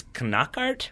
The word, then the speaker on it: Knockaert: But he comes flying in, like basically aiming for the knee, and it's Knockaert, which still doesn't seem like the way you should pronounce that name. Brighton. He's French. That's why. Yeah, but it seems like it should just be Knockaert, is all I'm saying.